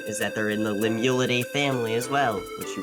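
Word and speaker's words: limule: It is pronounced limu l i m u l e because they didn't really have a word for it because there's no horseshoe crabs in France.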